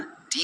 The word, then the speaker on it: the: लेकिन यदि दे बाद आने वाला शब्द वोवेल साउंड से शुरू होता है तो दी का उच्चारण डी होता है। जैसे द Apple, द orange, द एफेंट, द umbrella. यहां हम डी बोलेंगे।